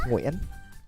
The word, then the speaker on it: Nguyen: Yeah, but it's Nguyen. If you ever wanted to know how to pronounce it properly.